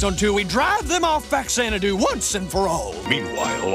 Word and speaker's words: Faxanadu: that is the name of the game itself faxanadu while there is no way some American kid in the 80s and 90s would ever know this the correct pronunciation is in fact f zanadu it being a portmanto of famicom in Xanadu